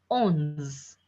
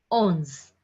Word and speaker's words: onze: 11 is pronounced as ons. Ons.